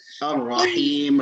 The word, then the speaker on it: الرحيم: الرحيم, remember? Him, not him.